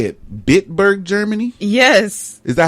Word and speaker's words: Bitburg: Bitburg, Germany?